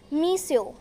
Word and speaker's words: monsieur: Spelling MONSIEUR and the pronunciation is मीस्यो.